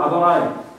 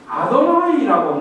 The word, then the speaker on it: 아도나이: 아무도 저거만 나왔다 그러면 아도나이라고 읽어요. 아도나이.